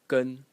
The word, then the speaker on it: 跟: So the first character is pronounced gun in the first tone gun in the first tone and its original meaning was or is even uh to follow.